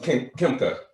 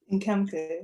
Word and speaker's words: Nkemka: And with that, I'm gonna throw it to Kimka. Did I say it right? Nkemka, yeah. Nkemka, yes.